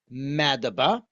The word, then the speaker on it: Madaba: In English, we pronounce it Madaba.